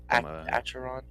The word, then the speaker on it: Acheron: Acaron. Aaron, is that how you say it? Acheron.